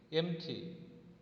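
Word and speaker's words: empty: एम्प्टी क्या है, एम्प्टी, इधर पी साइलेंट है, इसको एम्प्टी नहीं बोलते, एम्प्टी बोलते।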